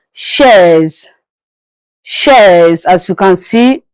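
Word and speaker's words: chaise: But in French it is pronounced as shares.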